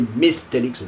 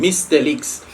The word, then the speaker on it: Mystelics: reaction on this year, the one and only Mystelics reaction, guys. Don't forget it. Sometimes I'll be saying my name all the time, Mystelics.